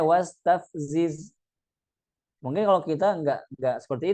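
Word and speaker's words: واستفزز: Wastafziz dibacanya tav ya. Wastav bukan. Tapi dibacanya wastafziz.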